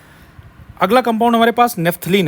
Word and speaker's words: naphthalene: ठीक है, अगला कंपाउंड हमारे पास नेफ्थलीन है बच्चों। This is called नेफ्थलीन, spelling ध्यान रखना, NaPHTHALENE, नेफ्थलीन।